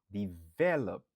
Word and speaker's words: develop: Il y a 2 syllabes, n'a accentué sous deuxième nan.